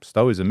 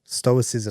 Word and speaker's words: stoicism: just is that's effectively what it is what stoism is or stoicism how do you say it stoicism stoicism is is effectively that uh